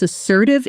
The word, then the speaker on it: assertive: For example, she was assertive in the negotiation. She stated her price clearly and didn't back down, but she stayed completely professional. Repeat. Assertive. Notice the stress assertive.